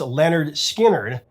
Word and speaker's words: Lynyrd Skynyrd: for their debut lp pronounced leonard skinner allen began playing his